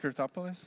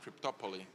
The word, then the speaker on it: Cryptopoly: Is it Cryptopolis? Did I pronounce it correctly? Is it Is it Cryptopolis? No. No. Cryptopoly. Like Monopoly. Ah, like Monopoly.